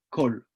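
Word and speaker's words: כל: Vous avez un kamatz sous le kaf, et kol, tout le monde prononce kol.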